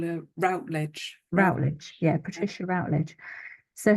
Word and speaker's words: Routledge: a radio play and it's narrated by Patricia Rage or R um I pronounce it rage how would you say it I could call her Routledge rout yeah Patricia Routledge so her actual name